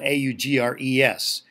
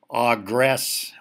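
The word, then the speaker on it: Au Gres: For example, in Michigan, there's a town called Augre, and it's spelled A-U-G-R-E-S. A lot of people on first encounter that word would say Augress, but actually it's pronounced A-W-G-R-A-Y, Augre.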